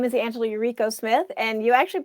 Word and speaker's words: Yuriko: about you okay well my name is angela eureko smith and you actually pronounced it fine like i didn't actu i